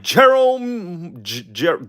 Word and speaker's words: Jerome: That's right, Jerome. Damn, I said Jerome's name wrong every time. Jerome Hawkins. That's right, yeah. I always call him Jeremy, bro.